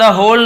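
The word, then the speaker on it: whole: फॉर द होल night, for यानी के लिए, द होल, इसे होल पढ़ेंगे, डब्ल्यू साइलेंट होता है लेकिन लिखेंगे जरूर।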